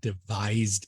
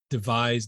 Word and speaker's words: devise: Stable Diffusion many times since we devised it.